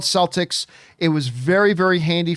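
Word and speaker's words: Celtx: in existence uh uh it's called celtics and it's it's spelled c e l t x it is a free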